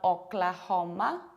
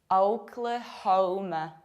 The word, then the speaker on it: Oklahoma: And be careful because O is tricky. It's not Oklahoma, it's Oklahoma. Oklahoma.